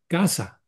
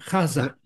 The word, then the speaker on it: Gaza: You know, like also in the pronunciation of Gaza, it should be Gaza. You know, there should be a G-H-A-Z-A. You know, G-A-Z-A is just English.